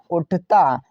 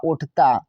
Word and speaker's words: उठता: तो यू से तो होता है छोटा ऊ, टी एच से होता है ठा। अब ए साइलेंट रहेगा, टी का मतलब ता होता है, अब ए का मतलब बड़े आ की मात्रा, हुआ उठता।